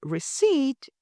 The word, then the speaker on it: receipt: is pronounced entur or the word receipt is pronounced receip if you want to